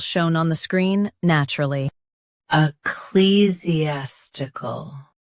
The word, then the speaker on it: ecclesiastical: Ecclesiastical. Stress clee. Keep Z clear and soften the ending stuckle.